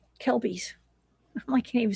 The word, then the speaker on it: Kelpies: Also, I do one more thing before we move to the Kelties. Kelpies.